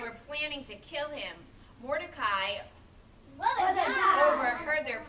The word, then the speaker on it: Mordecai: All right, so Haman is boo, Mordecai, what a guy, because it rhymes with Mordecai, right?